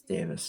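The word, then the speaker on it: Davies: I'm like oh it's Davis because he's Welsh that's not just a British English British American difference in English this is a Welsh thing so yeah it's Davis that's why we just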